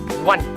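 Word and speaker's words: one: तो इसका जवाब सिर्फ इतना था 1।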